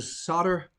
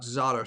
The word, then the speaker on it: Zotter: chocolate um bob goldberg you can go to solder it's actually pronounced solder not zotter solder usa that's where you get it so